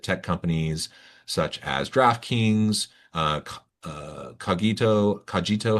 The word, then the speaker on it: Cogito: She also held several executive roles leading global people teams at tech companies such as DraftKings, Cogito. How do you say that? Yep. Cogito.